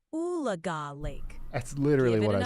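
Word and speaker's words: Oologah: How do the locals pronounce the lake near Talala and Tulsa in Oklahoma? It's called Ulaga Lake. How do you say it? All right, Ryan. The locals pronounce it Oolaga Lake. It's a bit of a tongue twister if you're not from around there, but you got it now.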